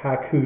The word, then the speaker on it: Haiku: And that is spelled haiku. H ai ku deck. Ha coup deck.